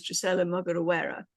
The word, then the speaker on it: Drocella Mugorewera: Now, today I'm delighted to share with you an interview with a gorgeous Drocella Mugorewera.